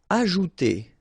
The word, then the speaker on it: ajouter: Ajouter. So remember, J is really pronounced like J. Ajouter.